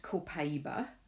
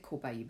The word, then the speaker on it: copaiba: well it's actually pronounced copaiba because it comes from Brazil and the Brazilians pronounce it copaiba it's from a tree